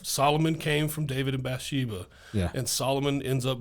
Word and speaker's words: Bathsheba: That's how it's pronounced. Bathsheba.